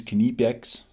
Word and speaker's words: Knipex: I'm calling it Nipex, okay? We got to get into it, haven't we? Knipex, Nipex. You know, the correct pronunciation is Knipex, as the Germans say, okay?